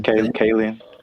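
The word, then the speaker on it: Kaling: Kayen.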